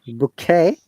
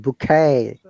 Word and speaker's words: bouquet: you heard deja vu you see british bouquet but in american it is longer sound bouquet i was asking this